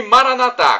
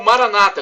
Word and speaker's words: Maranatha: todo-poderoso ele proverá e Maranatha como dizemos nós católicos ou Maranata como dizem nossos irmãos separados os evangélicos ou protestantes não importa a pronúncia porque o significado é o mesmo bom e nós somos